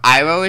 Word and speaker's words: Iroh: Therefore, Iroh is Iro, Sokka is Sokka, Aang is Ong, and even Avatar is now Avatar.